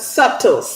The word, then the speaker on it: subtle: You said the B is silent. Subtle.